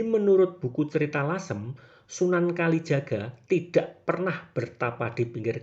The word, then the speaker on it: Kalijaga: Dalam perkembangannya julukan Sunan Kaliyuga bergeser pelafalannya menjadi Sunan Kalijaga.